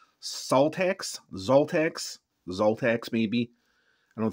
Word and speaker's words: Szaltax: siza but I don't I don't think it's pronounced siza I think it's pronounced salax ZX ZX maybe I